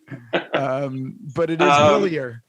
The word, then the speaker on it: Hillier: But it is Hillier, correct? It's Hillier.